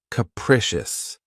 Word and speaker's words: capricious: my favorites is capricious this word has three syllables and the stress is on the second syllable keep in mind that the first syllable has that schah sound K precious capricious if someone or something